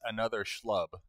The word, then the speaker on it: Another Schlub: the name is Another Schlub. That's how it's pronounced.